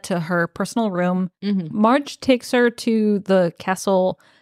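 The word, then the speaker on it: Margg: Valak has assigned Marge. Marge. That's how I read it. Is that how you read Marge. It? Marge. Marge. It's even spelled like M-A-R-G-G. Yeah. So like aggressive G sound at the end.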